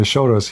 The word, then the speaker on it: Soros: Uh Shoros, Soros, Shoros. Okay. Shorus. He's in Hungarian.